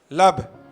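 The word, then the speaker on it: לב: लैमद Beth को यदि हम प्रोनाउंसिएशन करेंगे, प्रनाउंस करेंगे, तो क्या बनेगा? लब।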